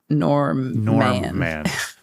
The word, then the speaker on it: Normman: And Norman is spelled Norman. So it's like Norman. Okay.